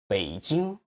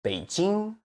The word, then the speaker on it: 北京: And Beijing, it should be 北京. Remember, native Chinese tend to stress the last syllable of a word, like 北京.